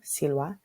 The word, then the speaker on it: silva: Notice in Latin, the V is pronounced hu, like a W, silva.